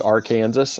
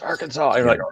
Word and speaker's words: Arkansas: it's like you said like a lot of people shouldn't it be our kansas i mean really maybe shouldn't it be pronounced that way people like no it's arkansas all right well we're